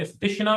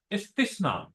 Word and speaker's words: استثنا: اور پھر اگلی کتاب استثنا، اسے استشنا بھی پڑھتے ہیں لوگ، یہ غلط ہے. صحیح تلفظ استثنا سے ہے، استثنا.